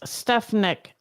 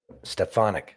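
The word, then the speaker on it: Stefanik: Staff Tulsi Gabbert Director of National Intelligence Elise stepanic ambass stefanic stefanic thank you ambassador to the United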